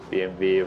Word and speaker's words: BMW: I don't like BMW W's to be honest or to say it right BMV.